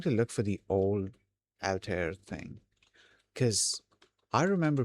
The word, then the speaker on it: Altair: thing cuz I remember people pronouncing it as Alter and I'm wondering if I got it wrong or they got it wrong. Okay, that's interesting because um I was trying to go off of the um the pronunciation of the hold on I messed up the spelling of pronunciation uh of the old computer system alter there and from what I remember it let's say people were pronouncing uh it as all t air.